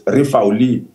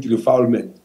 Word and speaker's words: refoulement: If I have to pronounce it in French, it's refouli. But in English, we just call it refoulement because we're not French.